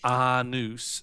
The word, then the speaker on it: Anus: It is a serious dwarven name. Pronounced Arnus, and I'm quite sensitive about it.